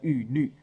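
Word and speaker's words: 郁垒: 我只要刻上他们的名字，这其实念成神书跟玉律，就是两个门神的名字。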